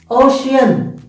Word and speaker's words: ocean: See, the letter C, we are reading in three different sounds. P C C I C then F I C fic. Ocean, shian. See, the same letter C in the two words, we have to read it three sounds.